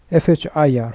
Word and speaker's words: FHIR: FHIR, pronounced as FHIR, is designed to A.